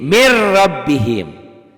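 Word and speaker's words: مِنْ رَبِّهِمْ: kayak gitu Tuh itu Min rabbihim dibacanya jadi Mir rabbihim NY hilang tuh tulisannya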